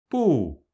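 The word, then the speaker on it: 不: bù, ngã âm, phủ định, không. Âm “b” được phát âm giữa âm 'b' và 'p' trong tiếng Anh, nhưng không có âm tách.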